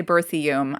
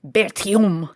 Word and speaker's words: Berthiaume: And this is under the ownership of Wilfrid, I'm going to say Berthiaume. I imagine in French it's something more like Berthiaume, but we're going to go with an Americanized pronunciation.